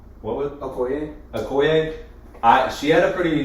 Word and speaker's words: Okoye: I thought, dang it, the first time we filmed this, I had to look up how to pronounce her name. What was Okoye? Okoye.